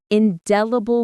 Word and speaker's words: indelible: Indelible mark stress on the second syllable of indelible.